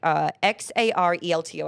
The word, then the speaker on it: Xarelto: Bayer, which manufactures branded drugs like XARELTO. I don't know how to pronounce that.